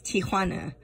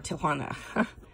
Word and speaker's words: Tijuana: Yes, I was pronouncing it the American way, but it's Tijuana or Tijuana.